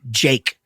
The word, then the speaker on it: JVKE: It was, we just went to a show the other day, took Everett to see Jake, which is spelled JVKE.